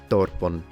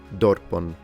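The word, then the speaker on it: δόρπον: And then we have this word here, which can translate as dinner, and in ancient Attic pronunciation is pronounced dorpon, dorpon, with a closed O. Ariston, depnon, dorpon.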